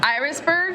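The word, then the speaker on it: Irasburg: From how do you pronounce it? Irisburg? Irisburg?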